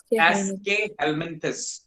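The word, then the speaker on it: Aschelminthes: एस्केहेल्मिन्थस, it's pronounced as एस्केहेल्मिन्थस, right.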